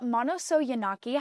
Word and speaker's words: Manousogiannakis: And today I am here with Eleni Manousogiannakis. How are you doing today? Good, thank you. Very impressive with pronouncing the last name correctly.